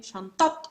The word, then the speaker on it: شنطة: bag of the student, شنطة, pronouncing the T, شنطة الطالب. All right. So whenever I have ta marbuta in إضافة, first term has ta marbuta, it must be pronounced.